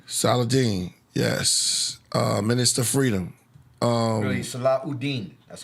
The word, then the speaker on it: Saladin: Really, Saladin.